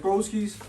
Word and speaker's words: Broskis: For anyone that's not tried Broskis before, are we even saying it right? Broskis. Broskis, yeah, it's Broskis. Yeah. It has to be Broskis, it's Broskis.